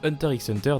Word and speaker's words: Hunter x Hunter: public public au passage le x présent dans le titre du manga et silencieux si vous l'ignoriez donc prononcé hunter x hunter n'est pas vraiment fidèle au titre de l'oeuvre comme pour son manga